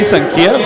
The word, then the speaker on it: Xankia: Of course, that's spelled Xankia, Sankia, Vietnamese restaurant.